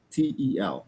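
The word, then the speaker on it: Sitel: Seatel is si Tel. Not not C. Not C. SI T.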